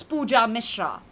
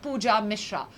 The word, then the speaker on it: Pooja Misrra: My name is easy and simple. It's Pooja Mishra. Like I said, not any of those which I said earlier, but Pooja Mishra.